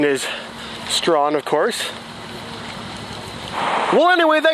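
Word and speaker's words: Strachan: so if you didn't know it was called strong you probably pronounced it struck Chan but the correct pronunciation is strong of course well anyway that concludes part 1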